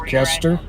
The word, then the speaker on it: Koester: And thank you, Stephanie, for letting us know the correct pronunciation. It is Kester, as you initially thought.